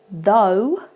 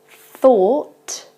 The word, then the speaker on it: though: the third one through so you can tell with the first one it's not the same vowel sound at the beginning it's though whereas the second two we have thought you can see my tongue moving a little bit and through so that's what the difference is at the beginning of